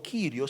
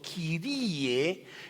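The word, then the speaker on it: κύριε: de honor y cuando tú dices kirie no kirio sino kirie estás diciéndolo de una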